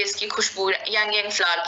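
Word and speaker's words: ylang-ylang: Hero ingredient इसमें यांग यांग है, इसे लैंग या लैंग भी कहते हैं, इसे यांग यांग भी कहते हैं, एल इसमें साइलेंट हो जाता है।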